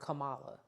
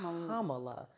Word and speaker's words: Kamala: mean and starting with they keep calling her Kamala her name is Kamala it's not it's literally three syllables Kamala Harris I don't